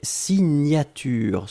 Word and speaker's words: signature: Deuxième chose, un substantif et c'est signature. Souvenez-vous, le GN, la prononciation, c'est gne, gne, gne, gne, gne. Signature.